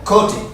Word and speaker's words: coated: Coated. Coated. Coated. Coated. And this D actually is going to sound almost like a T sound.